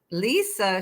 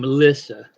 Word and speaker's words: Lisa: Lisa, she's been listening to Roman. Uh-oh. Oh, no, but yeah, she pronounces her name Lissa instead of Lisa.